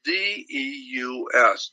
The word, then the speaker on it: Deus: And so one last thing, God in Latin is D-E-U-S, Deus.